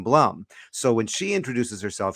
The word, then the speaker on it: Blum: states so so but she prefers the the Hebrew pronunciation of Bloom rather than Blum so when she introduces